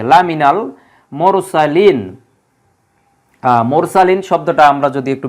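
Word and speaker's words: لَمِنَ الْمُرْسَلِينَ: কোন ব্যবহার নেই শুধু উচ্চারণটা মিলানোর জন্য এই মিন থেকে মিনাল করা হয়েছে লা মিনাল মুরসালিন মুরসালিন শব্দটা আমরা যদি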